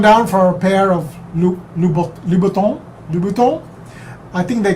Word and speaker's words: Louboutin: Something like, it's not Laubautins lah. It's like Louboutin. I think they call that head over heels. A joke. I would have gone down for a pair of Louboutin.